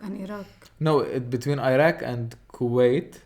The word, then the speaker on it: Iraq: or Iran or Iraq and Iraq. No, between Iraq and Kuwait. Iraq, not Iraq. Wrong pronunciation. Iraq and Kuwait.